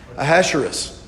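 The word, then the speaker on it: Ahasuerus: read in verse 1 we have a king a hasherist Esther 1-1 is actually the way it's pronounced I had to practice this a little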